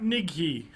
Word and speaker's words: Nighy: Nighy. Mm-hmm. That's how you pronounce it.